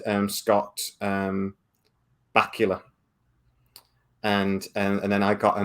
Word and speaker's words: Bakula: And I said Scott Bakula. And then I got a million comments saying it's Scott Bakula, like Dracula.